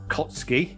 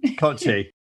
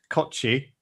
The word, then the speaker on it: Kotschy: tech talks podcast is with kara kotsky i hope i've pronounced your surname right there cara no okay let's try that again koji kochi this episode of the broadcast tech talks podcast is with kara kochi yeah yeah ex 5050 managing director